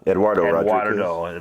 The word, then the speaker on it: Eduardo: say his first name rodriguez is that uh eduardo rodriguez and uh and a bunch of other